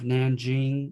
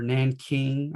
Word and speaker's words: Nanjing: course the rape of nanjing or nan king i've heard it pronunciated as both that was just awful in